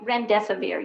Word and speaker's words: remdesivir: Is that remdesivir? Is that the way you pronounce it? Yes, remdesivir, yes, sir.